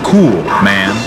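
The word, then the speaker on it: Kuhlman: competitor Stephanie kman and when you look at her name k u h l m a Ann you ask the Phanatic pronunciation she writes cool man and she is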